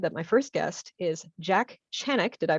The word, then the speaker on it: Jack Chanek: i'm super excited that my first guest is jack channick did i pronounce that right you did you're like the